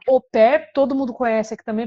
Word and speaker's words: au pair: que se escreve oper porque é uma palavra francesa escreve a Pair Mas claro que a gente fala oper todo mundo conhece aqui